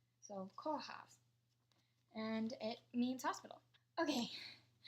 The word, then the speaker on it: Kórház: This is the Hungarian word for hospital, and it's spelled K-O with the accent. And if you know Irish, it's the same accent as a fada. If you know French, it's the same as an accent aigu.